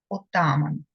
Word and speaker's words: отаман: та опікон братських шкіл запам'ятаємо наголос отаман Петро Дорошенко визначний український